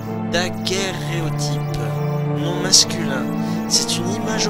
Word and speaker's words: daguerréotype: Daguerréotype. Je prononce mal, il y a deux R. C'est deux syllabes différentes. Daguerréotype.